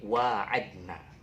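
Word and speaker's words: وعدنا: Jadi wa'adna, wa'ad, tapi bacanya wa'adna.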